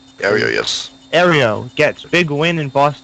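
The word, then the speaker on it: Aereo: then any who any carry on carry on Ario is that how that's that pronounced Ario yes Ario gets big win in Boston judge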